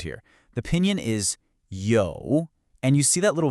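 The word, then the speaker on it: 有: That is absolutely critical. It tells us this is a third tone. Now, to get this right, I want you to imagine your voice is on a little roller coaster. It starts in the middle of your range, it dips down low, and then it rises back up again.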